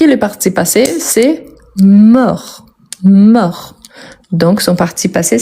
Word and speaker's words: mort: pas donc il est mort et je peux dire elle est morte donc vous voyez qu'il la mort je ne prononce pas le T à la fin elle est morte je